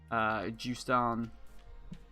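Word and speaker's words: Justan: the book starts out with juice down and that's the way it's supposed to be pronounced I believe because the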